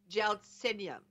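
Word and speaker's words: Gelsemium: Is it Gelsimium or is it Gelsimium? Gelsimium. Okay.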